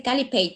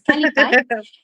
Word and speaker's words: Kalipay: Está escrito en cebuano, que casi todo el mundo me lo pronuncia en inglés y luego me dicen es el Calipay, pero no, no es Calipay, es Calipay.